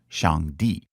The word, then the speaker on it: Shangdi: It's pronounced Shangdi and basically means highest god.